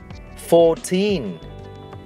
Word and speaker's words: fourteen: giống nhau, teen, và trọng âm trong các từ này đều rơi vào teen.